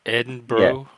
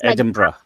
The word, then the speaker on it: Edinburgh: Edinburgh. Brah. Yeah. Edinburgh. Like bra. Yeah. Like for you to understand like bra like girls bra kind of status is easier for you. Eden like it means like it's spelled berg. No, it's bra.